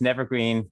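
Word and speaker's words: Nevergreen: you uh astutely notice never green rhymes with evergreen evergreen state college being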